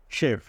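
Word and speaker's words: chef: যদি ওয়ার্ড কিছু আছে সেগুলোতে সি এর পরে এইচ থাকলে স এর মত হয় যেমন শেফ দেখো এখানে এই যে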